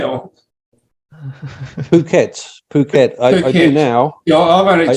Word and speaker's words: Phuket: really long trip did you know how to pronounce pouquet or Phuket Phuket I do now I've only just that a